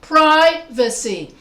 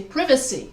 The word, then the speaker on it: privacy: they say privacy because they stress va instead of pri they say privacy i want my privacy